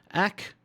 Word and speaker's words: ek: quickly go through this ack pronounced like that is i yay pronounced like that